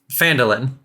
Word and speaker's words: Phandalin: This note gives you the right to travel to, said it wrong, Phandalin, and investigate the franchise there on my behalf.